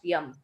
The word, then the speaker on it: Jam: And the word Jam is just the way they pronounced Yam.